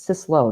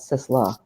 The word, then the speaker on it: Sislo: name wrong in this it's sis lo not sis law my recipes that's okay